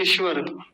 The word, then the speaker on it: ईश्वर: बातें बड़ी महत्त्वपूर्ण है मैंने बहुत सारे लोगों को इस शब्द का गलत उच्चारण करते देखा है क्या बोलते हैं ईश्वर ईश्वर पहली बात तो बड़ी ई की मात्रा को छोटी ई की कर देते हैं ईश्वर तालव्य सकार ठीक से नहीं बोलते और रेफ को आधा